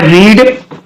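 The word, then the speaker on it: read: रीड का first form, second form और third form, इन तीनों का स्पेलिंग एक ही होता है, लेकिन इसको रीड बोलते हैं, इसको रेड बोलते हैं और इसको फिर से रीड ही बोलते हैं।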